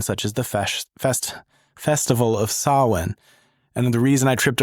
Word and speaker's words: Samhain: Yeah, it's not Sam Hain. It's Samhain. Which, to be fair, it is spelled Sam Hain. It is spelled that way in English, but because it is a Celtic word, yes.